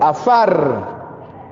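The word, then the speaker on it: עפר: viene de la raíz, una raíz que se pronuncia como afar, y significa mezclar la tierra o construir sobre los escombros.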